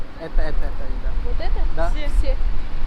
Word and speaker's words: все: Извините, может сказать, как произносится это слово? Который? Это, да. Вот это? Да. Все. Се?